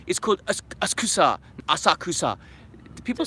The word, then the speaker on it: Asakusa: for everyone who tells me and Chris my pronunciation is cooked as Kusa Asakusa people say Asakusa i don't know what why everyone's corrected my